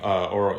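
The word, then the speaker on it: Ouro: Myself, a couple other builders on the Horizon team, we split off and we formed Oro Interactive. It's spelled O-U-R-O.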